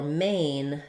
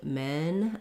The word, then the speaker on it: main: length there a so think about for main think about saying may first and then adding your n and just make sure that you don't end up doing men but may mean open up for your a and then you glide into the of the diphthong main versus men that um e vowel doesn't change it's open but it's lacks so the a and e are about the same amount of openness it's just that er